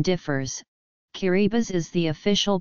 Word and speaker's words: Kiribati: never considered part of the tongue guru chain pronunciation differs key Reba's is the official pronunciation as TI in Kiribati